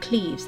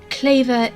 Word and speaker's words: Kleve: Quick disclaimer, I'm going to say Anna von Kleve and not Anne of Cleves, as Kleve as in waver is the proper pronunciation, not Cleves as in sleeves.